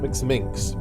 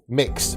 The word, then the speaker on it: Mx: How do you pronounce that? Is it Minx? I don't know how you pronounce MX. Mix.